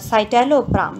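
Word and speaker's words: citalopram: इसका प्रोनाउंसिएशन सही करिएगा, ये साइटेलोप्राम है, इसको साइटेलोप्राम प्रोनाउंस करते हैं हम।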